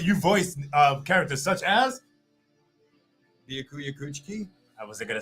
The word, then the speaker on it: Byakuya Kuchiki: Byakuya Byakuya Kuchiki. Thank you. Byakuya Kuchiki.